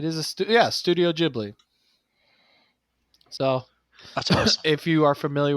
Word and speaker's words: Ghibli: It is a stu Yeah, Studio Ghibli.